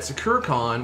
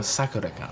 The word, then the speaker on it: Sakura-Con: All the authentic anime cosplayers, they go Sakura-Con. Yeah, like we say Sakura-Con and they just go Sakura-Con. They put the emphasis on the wrong syllable.